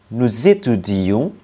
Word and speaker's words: nous étudions: Nous, nối tiếp. Z. Nous étudions.